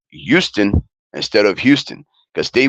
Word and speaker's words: Houston: And yeah, it's Houston, not Houston with an H. The H is silent, and it actually sounds more like Y. So it's Houston.